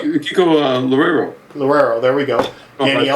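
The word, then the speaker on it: Loureiro: Uh, Mega, Kiko, I'm going to say his name wrong. I'm going to get it wrong. Lurario. Laro. Kiko Lorero.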